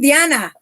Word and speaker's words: Diana: You know, I'm not Diane. You know, I'm Diana.